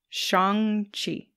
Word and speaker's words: Shang-Chi: but they did not it's actually like sean with a g at the end chi shang chi we'll talk about that